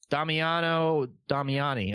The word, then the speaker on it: Damiano Damiani: So, directed by Damiano Damiani. Yeah, holy fuck. Bobby, how do you say that? Yeah, no, you said it right. Damiano Damiani.